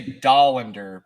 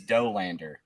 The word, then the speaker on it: Dollander: Everybody wants to say Dollander, but it is Dolander.